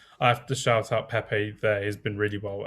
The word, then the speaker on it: Pepe: I will go for Pepe. I'll go for Pep as you pronounce it, as a centre back.